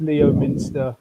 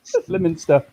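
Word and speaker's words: Leominster: It was actually Oh, that's Leo Minster. Come on. nope. That's Lemonster. No. Lemon. Lemonster. Lemon.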